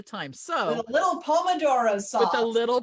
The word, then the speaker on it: pomodoro: With a little pomodoro sauce. So the trick is pomodoro, or I'll have Kat say it because she'll say it better. Pomodoro. See, I can't do it. You gotta roll your R's.